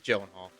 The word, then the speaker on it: Gyllenhaal: jake gyllenhaal jake gyllenhaal it might be pronounced galen i think it's gyllenhaal i've always heard his gyllenhaal um i remember him